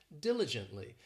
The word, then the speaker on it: diligently: This adverb has 4 syllables and the stress is on that first syllable, diligently.